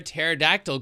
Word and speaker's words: pterodactyl: Why can't you hear a pterodactyl go to the bathroom? Because the P is silent.